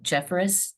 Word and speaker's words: Jeffris: Uh, coacher Jeffris, present. ProCo, and I apologize if I'm saying your last name incorrectly as well. No, Jeffris like Ferris wheel.